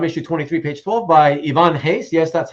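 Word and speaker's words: Ivan Reis: has ever said it it's Ivan Hayes right and he's as in like with the H right it sounds like an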